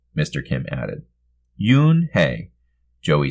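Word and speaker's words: Unhei: Kim and then turned to Joey she nodded slowly yes it's pronounced moon Hey it means grace mr. Kim added Yoon Hey Joey said slowly this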